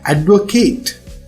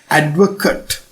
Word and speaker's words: advocate: ඒ වගේම නාමපදයක් විදියට නීතිඥයා එහෙම නැත්නම් lawyer කියන අදහසින් ඕ supporter කියන අදහසින් උච්චාරණය කරන්නේ advocate. So understand the difference in the pronunciation. Advocate, the verb, advocate, the noun.